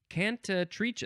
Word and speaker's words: cantatrice: There's a couple ways to say this. Cantatrice. I think that's maybe the Italian way to say that. Cantatrice. And then there's also cantatrice. No, cantatrice. Cantatrice. It is spelled Cantatrice. Cantatrice or cantatrice.